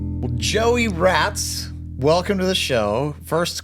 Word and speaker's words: Raats: Uh, you were saying that your grandparents are Dutch and it's pronounced over there rots, but you just go with the full rats.